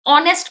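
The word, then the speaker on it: honest: H silent होता है. ऑनेस्ट बोलेंगे इसे.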